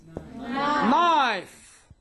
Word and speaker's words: knife: Letter K is silent usually at the beginning of a word. For example, at the beginning of a word. For example, knife, knee, knowledge, night, and so on.